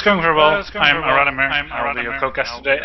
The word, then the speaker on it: Iralimir: How do you pronounce your name? Iralimir or? Iralimir. Iralimir. Okay, cool. Basically the English pronunciation.